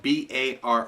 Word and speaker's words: barre: chord is simply and it's spelled b a r r e bar b a r